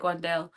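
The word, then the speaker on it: Wan'Dale: I like Wandelle. Um, and I can't help but say Wendell Robinson again. It's a pronunciation thing.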